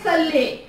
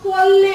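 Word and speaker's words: صلِّ: So don't say salli, because it gets seen here with salli and you are supposed to say swad. So it should be Allahumma salli ala.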